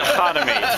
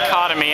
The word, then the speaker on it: Khatami: I've only pronounced it Khatami. I've only... Other people pronounce it Khatami, and I accept that.